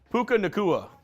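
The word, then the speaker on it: Puka Nacua: How do you pronounce that? Puka Nakua. Puka Nakua. I heard if you give him, when he evolves, he turns into Raichu. Puka Nakua.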